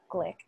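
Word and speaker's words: Gleick: with my editor, Betsy Glick. It's G-L-E-I-C-K, and I asked her how to say it, and then I forgot. I think it's Glick, Betsy Glick.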